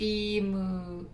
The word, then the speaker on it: emu: Emu is actually pronounced emu.